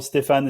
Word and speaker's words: Stéphane: Stefan is typically the way I go, but you can go with whatever. So with the French pronunciation, lovely.